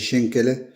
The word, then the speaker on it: Schankala: Donc voilà la recette des chen en alsacien ou chancala, ça s'écritala mais ça se dit chenelin aux cuisses de dame de la brioche Pascal.